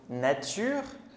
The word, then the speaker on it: nature: Par exemple, le mot nature, il va être en deux syllabes. La naure. Alors, parfois, on peut entendre comme un petit son de e comme nature, mais en fait c'est très léger.